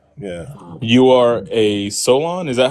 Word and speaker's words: Soulaan: You are a Solon.